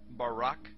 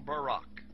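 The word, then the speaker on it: ברק: So lightning, or a flash of light, in Hebrew is pronounced barak or barak.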